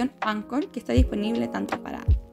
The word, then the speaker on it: Anchor: H como Anchor, pero se pronuncia Anchor porque es una palabra en inglés, y van a encontrarse